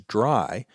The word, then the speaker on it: DRY: is dry code now I'm always going to pronounce that as dry but it's actually three letters d r y which stands for don't